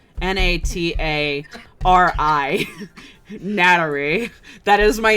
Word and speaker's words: natari: was so precious like japanese doesn't have an l that's why they have such a because that uh their l's are pronounced as ours like might technically have a really big so my uncle like my name my name in japanese is natari n-a-t-a-r-i nattery